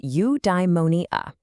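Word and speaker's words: eudaimonia: Udimmonia. It's pronounced udeimmonia.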